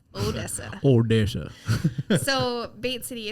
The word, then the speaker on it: Odessa: It's Odessa. Odessa.